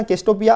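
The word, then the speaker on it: Cassiopeia: याद रखना केस्टोपिया। आज थोड़ी ये क्या वर्ड्स इनके ऐसे होते हैं ना जिनकी प्रोनाउंसिएशन में कभी कभी दिक्कत आ जाती है, मैं समझा देता हूँ। केस्टोपिया ए बोलते हैं इसको, ए रेमिनेंट ऑफ ए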